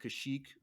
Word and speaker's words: Kashyyyk: So the giant trees on the planet of Kashyyyk, where the Wookiees are from.